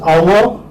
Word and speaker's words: hour: You can put that in bracket because we do not pronounce it. So this is hour.